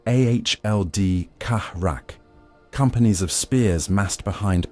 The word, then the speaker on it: Ald Karak: At the fortress of Ald Karak, pronounced Ahld Kahrak, companies of spears massed behind parapets of basalt